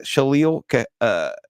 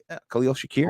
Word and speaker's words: Khalil Shakir: did what what about uh I saw that shalil uh sh Khalil Shakir KH Shakir yeah there you go I'm saying